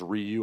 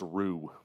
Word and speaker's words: Ryu: taught once Japanese girl I pronounced it as Ryu I was informed that it's Ru techn it's more like